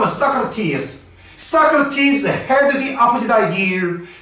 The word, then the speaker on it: Socrates: 영어 발음은 Socrates.